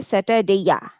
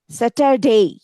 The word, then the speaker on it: Saturday: এখানে কিন্তু আমরা কিন্তু এইভাবে বলছেন যে স্যাটারডে ইয়া, স্যাটারডে ইয়া কিন্তু না, স্যাটারডে, ডে।